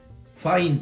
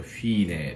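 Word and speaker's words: Fine: v 分デココファインと呼んじゃった雨でそれフィーネですねフィーネと読みますえっとここにね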